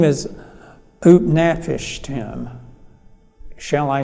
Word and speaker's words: Utnapishtim: And his name is Utnapishtim. Shall I spell it for you?